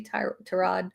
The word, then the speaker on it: Tyrod: And quite frankly, um Terrod Taylor, I always say his name wrong. Sorry, Ty Trod.